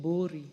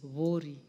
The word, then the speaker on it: Vori: Some people would like to call it Bori but it is Vori. That's the correct pronunciation.